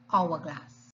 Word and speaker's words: hourglass: exceptions to the rule although the h is a consonant it is silent so we say an hourglass we say an honor